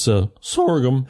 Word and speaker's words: sorghum: Jay, there was one word you mispronounced. What's that? It's sorghum.